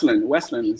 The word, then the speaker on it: Wesleyan: Am I pronouncing that right, by the way? Wesleyan? Yeah, Wesleyan.